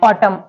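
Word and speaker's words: autumn: दे देख लेते हैं वर्ड है ऑटम ऑटम में रूल के अकॉर्डिंग एम के बाद जो एन आ रहा है वो क्या है साइलेंट है नेक्स्ट वर्ड है कॉलम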